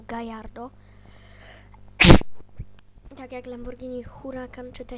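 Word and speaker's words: Gallardo: gardo SL i tak czyta się gardo nie Galardo tylko gajardo tak jak Lamborghini Huracan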